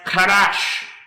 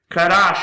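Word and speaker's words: חדש: The next word I want to show you is pronounced Kadash. Kadash, and it means to renew, renewed, new.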